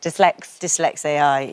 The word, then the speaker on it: Dyslex-AI: But it's a play on dyslexia and the AI. So you've kind of put it on the end. So you pronounce it Dyslex-AI.